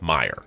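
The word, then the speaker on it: Meijer: that I'm being told is pronounced Meyer even though it is spelled major doesn't matter to me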